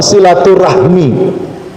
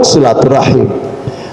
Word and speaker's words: silaturahim: kampung halaman tujuannya silatu silaturahim atau silaturahmi orang Jawa Barat silaturahmi orang Jawa timul silaturahim itu perkara ro H mim loh Rahmi cuma rahim jadi cara baca kaidah di pulang kampung silaturahim Nah sekarang di dikenal